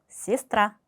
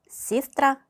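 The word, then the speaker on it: сестра: 알파벳 예와 야는 강세가 없을 경우 이로 발음이 됩니다. 예를 들어서 시스트라. 자 여기 알파벳 e가 있지만 시스트라라고 읽지 않아요. 시스트라. 시스트라.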